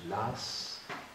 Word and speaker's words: Law: On prononce Lass, en fait ça s'écrit Lau.